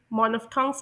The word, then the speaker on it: monophthongs: मैं आप लोगों को ये डिस्कस करने से पहले बता दूं कि इस लफ्ज़ को ब्रिटिश इंग्लिश में मोनोफ्थोंग्स प्रोनाउंस किया जाता है और अमेरिकन इंग्लिश में मानोफ्थोंग्स प्रोनाउंस किया जाता है।